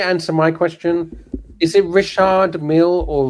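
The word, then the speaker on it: Richard Mille: it rishard Mill or Richard Mill no it's rishard Mill so I was correct Rish M it's not Rish M it's it's not Richard it's Risha M so you don't pronounce the d right no no D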